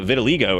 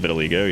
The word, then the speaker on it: vitiligo: We saw somebody who had vitiligo earlier.